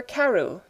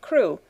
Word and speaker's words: Crewe: "Madame Pascal pronounced it as if it were Carew instead of Crewe, but that might be merely a matter of pronunciation.